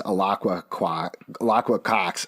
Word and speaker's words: Alaqua Cox: Two things to mention about this: one, mispronounced it definitely. It's Alaqua Cox.